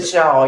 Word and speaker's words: pshaw: There was a P in front of it. Pshaw, yeah. Oh, Shaw.